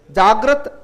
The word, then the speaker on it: जागृति: करते हैं हम लोग, इसका और इसका उच्चारण एक जैसा करते हैं। जागृत जागृति नहीं, जागृत जागृति, जागृति। तो जागृति में री है, जागृत में र है, ये फर्क है, ये याद रखिएगा।